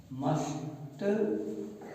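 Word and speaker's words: mustn't: तो क्या हो जाएगा, मस्ट, और ये इस तरीके से MUST एंड तो कॉन्ट्रैक्टेड फॉर्म है। अब ये मस्टंड नहीं पढ़ेंगे इसे, यहाँ पर टी साइलेंट कहेंगे, तो क्या हो जाएगा, मिसेंट,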